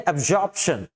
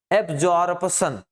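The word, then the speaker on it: absorption: और ये जो दिया गया है ये है अबजॉर्प्शन। ठीक? ऐसे तो आप कहेंगे तो कहेंगे अबजॉर्बशन। ठीक? नहीं। लेकिन सही उच्चारण है अब्जॉर्प्शन।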